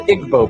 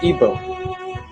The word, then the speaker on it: Igbo: in nigeria you have the igbo people or ebo pronounced either way there's 40 million of